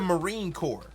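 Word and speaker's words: Marine Corps: y'all y'all are typing in the chat core is spelled c o r PS just like the Marine Core if you look up the Marine Corp if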